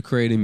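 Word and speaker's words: kratom: Is pronounced k r a y t u m.ratom. I guess that's how you how you spell the pronunciation.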